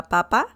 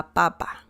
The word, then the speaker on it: papa: an accent mark because this one doesn't have any accent mark la papa so that's how you pronounce it if you add an